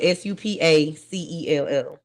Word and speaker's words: Supacell: Supercell, and it's spelled Supacell. So Supercell, not super. It's super. Oh, hey, I just spell super. No, it's not super. It's super. Supa cell.